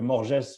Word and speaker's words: Morges: je vais être à Morges c'est ça si je prononce bien euh dans une ouais en Suisse en Suisse dans une boxe c'est Morge c'est Morge les on prononce pas les ouais on est on